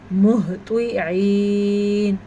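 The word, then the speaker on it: مهطعين: قبلک، قبلک مہطعین. ہاں کے تلفظ کا دھیان رکھنا ہے.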